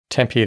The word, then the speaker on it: Tempe: Tempee, that's how you say it, right?